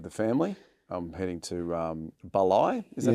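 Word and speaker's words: Bali: I'm heading to Balai. Is that how you pronounce it? B-A-L-I? Yeah. Balai.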